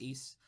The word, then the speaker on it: Ys: well known it's uh the game series called east it's pronounced east and it's um uh you know it's it's